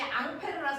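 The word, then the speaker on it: Ampère: 원래 프랑스 사람이니까 앙페르 그 앙 페르를 미국놈들이 읽으면 뭐가 될까요 앙페르 2암페어 3암페어 그 아저씨가 그 아저씨입니다 더아 그래서네 미국놈들이 읽었냐 프랑스 놈들이 읽었냐 따라서 발음이 다른 거지 같은 아저씨야 됐어 이렇게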